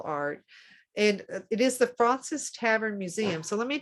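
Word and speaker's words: Fraunces: and it is the francis tavern museum so let me tell you a little bit about that so you can understand the george washington connection uh like i said francis is spelled f-r-a-u-n-c-e-s tavern museum dot org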